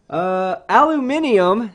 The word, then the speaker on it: aluminium: Aluminium, there you go, guys. I said it right first time. Aluminium was renamed, aluminum was renamed to aluminium to be correct. You're supposed to pronounce the I.